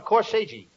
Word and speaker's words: corsage: I gave each one of them a corsage. No, not corsage. Corsage. That's corsage. Spelled A-G-E is pronounced like odge, as in corsage or garage.